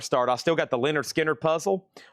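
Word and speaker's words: Lynyrd Skynyrd: I still got the Leonard Skinnard puzzle.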